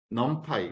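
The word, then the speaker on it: NumPy: 반드시 또 참 좋은게 있어요 놈파이라는 거 있습니다 넌파이 요만은 그냥 아이폰을 가져온 거고요 넌파이라고 읽어요 nempy 그리고 펜다스라는 또 아이콘 요것도 있고요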